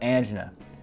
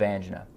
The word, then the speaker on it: angina: So let's discuss different types of angina. First, I want to clarify the pronunciation. It is pronounced angina, not angina.